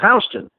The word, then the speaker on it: Houston: is spelled Houston but everyone in New York pronounces his Houston and the reason for that is you ever